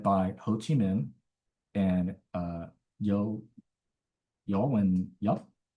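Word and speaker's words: Võ Nguyên Giáp: Ho Chi Minh and Yo Win Yup, or Vo Win Zap, I think is how the Americans pronounce his name.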